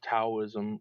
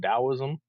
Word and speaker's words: Taoism: spiritual system, the religion, you could say, of Taoism, or alternatively pronounced Taoism.